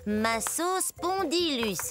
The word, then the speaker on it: Massospondylus: Ça se prononce comme ça, Massospondylus.